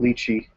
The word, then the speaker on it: lychee: little bit of that lychee kind of quality, almost Gewürztraminer wine-like quality in this. The British say lychee. Lychee, right? The English say lychee. But lychee is closer to correct, as we found out.